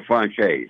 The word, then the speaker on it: Franzese: Is it pronounced properly, Franzese? Michael Franzese. Franzese. Like the dinner?